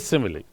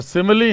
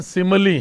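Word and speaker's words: simile: तो सिमिली है, इसका वैसे करेक्ट प्रोनाउंसिएशन सिमिली है, सिमिली नहीं है, सिमिली। ओके, इसको ऐसे फोनेटिकली ट्रांसक्राइब करते हैं, अ है यहाँ, ये स्वा वाला वीक वाला सिमिली, ये इसका करेक्ट प्रोनाउंसिएशन है दोस्तों।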